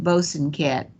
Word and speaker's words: Bosanquet: And although I love French, I understand that the Florida family who developed this one pronounced their name Bosanquet.